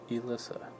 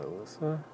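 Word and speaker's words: Elisa: Elysa is spelled E L I S A. Elysa and that's not Alyssa.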